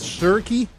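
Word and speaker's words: Schierke: Where is Shirky? That's how you actually pronounce it.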